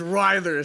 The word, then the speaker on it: Writhers: We did a little video fucking review of it, and man, we couldn't pronounce the name properly. But after our last interview with Rick Retreat, it's Writhers. It is Writhers. We fucking know it's Writhers now.